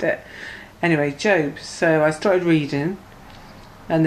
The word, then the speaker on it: Job: But the book opened up at Job, which I thought was Job. I thought that's how you pronounced it. Anyway, Job.